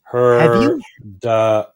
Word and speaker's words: heard of it: it heard of it I've heard of it it sounds like herit you got it beautiful